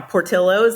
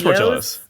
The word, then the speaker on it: Portillo's: Like the first time I tried I'm gonna say it wrong right now, Portillo's, I said Portillo's. It is Portillo's.